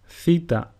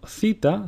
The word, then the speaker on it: theta: Now, theta sounds exactly like the way the letters TH are pronounced in the word thunder.